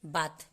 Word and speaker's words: bathe: उसके बाद है हमारा BATHE, यहाँ पे भी लास्ट में ई आ रहा है तो ई का कोई भी हम लोग उच्चारण नहीं करेंगे, साइलेंट रहेगा, सिर्फ H तक का उच्चारण होगा। तो BATH, बात।